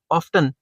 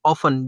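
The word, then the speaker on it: often: They are ऑफ्टन या ऑफन, जो भी आप इसकी pronunciation low, unable to raise the sufficient capital required for their economic development.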